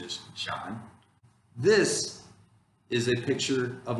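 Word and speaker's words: 山: this is a character for mountain but the pronunciation is john this is a picture of a bird okay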